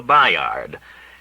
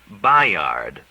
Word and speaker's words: Bayard: Simpson had occasion to mention a New Brunswick boarding house called the Bayard, and he pronounced B-A-Y as it is spelled. With easy politeness, Willie corrected him. "Bayard," said Willie.